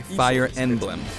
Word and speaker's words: Fire Emblem: It's really hard to pronounce in Japanese. The producer said it's OK if I just say, “Fire Enblem.”